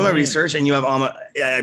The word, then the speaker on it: Alma: I was doing my research, and you have Alma. I pronounced that correctly.